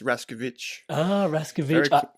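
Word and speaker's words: Raskowicz: I say it right close except A W uh in Polish is two v's so it's raskovich almost had it I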